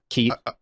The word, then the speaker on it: Keet: But the KEET, like parakeet.